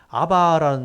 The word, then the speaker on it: 아바: 여기 아바 아버지, 아빠 아버지라고 되는데 아바라는 말이 히브리어로 아버지란 뜻이에요. 그러니까 발음이 아바 그대로 아바인데 우리나라 말이 아빠잖아요. 우리는 아버지잖아요. 아버지의 줄임말로 아빠라 그러는데 그 발음이 비슷하죠.